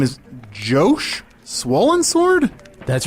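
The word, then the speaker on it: Joh: spell Jo uh just j o h oh so like Josh Josh that's so weird what's Josh Josh on Earth we would we would pronounce that Josh it's definitely Jo Jo yes yeah it's it's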